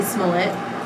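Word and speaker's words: Smollett: So, anyways, since we're talking about celebrity news, I just want to talk about how Jussie Smullet. Is that how you say his name? It rhymes with Mullet.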